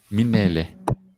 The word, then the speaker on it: Mminele: Corky's going to talk a little bit about Daniel Manele. How do you pronounce his surname? Manele. Manele. Yeah. Yeah. But let me. Should I call him? Okay. Minele. Ehe. Minele.